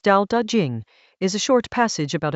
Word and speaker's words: Tao Te Ching: Chapter 53 of the Tao Te Ching, pronounced Tao Te Ching, is a short passage about a very specific